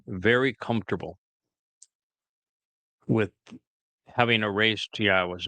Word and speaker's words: Yahowah: And of course, within Christian communities, the very fact that Yahweh's name is Yahwa and they don't mention it means that Yahweh has nothing to do with their New Testament or their religion.